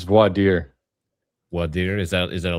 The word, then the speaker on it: voir dire: I don't even know how to pronounce that. Voir dire. Clown world. It's voir dire.